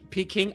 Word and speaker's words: Peking: The pecking order guy is a guy named Peking, please, PJ. Pronounce it correctly. Peking.